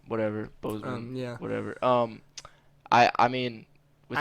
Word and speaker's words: Boseman: Bosman. Whatever. Bozeman. Yeah. Whatever. I mean, with that stuff. One, I can't pronounce his last name. I've been trying to get that right like, all weekend. Boseman.